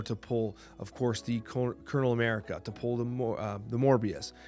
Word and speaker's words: Colonel: Now, when Zombie Power Man came out and Colonel America came out, Colonel America, I should say, I didn't pronounce the R, the invisible R.